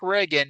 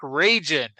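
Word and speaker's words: Ragin: I I just love that like his name is Mark Reagan or that's how it's pronounced but it's spelled R A G I N. He is not Mark Reagan. He is Mark Ragan.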